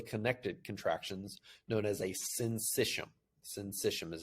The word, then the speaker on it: syncytium: And so it creates electrically connected contractions known as a syncytium. Syncytium is how you pronounce that.